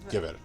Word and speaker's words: Gewehr: Remember though that in German W is pronounced V, so Gewehr.